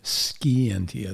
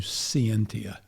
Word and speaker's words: scientia: Con, from the Latin root cum, with, and scientia, or in Latin pronunciation, scientia. The C was actually hard, but it's anglicized to scientia, knowing.